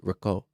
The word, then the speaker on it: Rico: you very much Rick okay Rico with the role of the tongue tongue yeah Rico even if he can't do it it's Rico not saying that I'm Italian